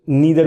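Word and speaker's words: neither: कुछ लोग नाइदर भी बोलते हैं ना, कुछ लोग नीदर भी बोलते हैं ना, आपको प्रोनाउंसिएशन के ऊपर डिपेंड करता है। American accent, American pronunciation, British pronunciation, अलग अलग चीजें हैं।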